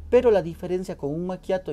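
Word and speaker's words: macchiato: gustaría aclarar y es la pronunciación de maquiato porque muchas personas llegan y dicen el machat otros dicen el machiato es un maquiato maquiato la ch en italiano es como la q Sí por ejemplo se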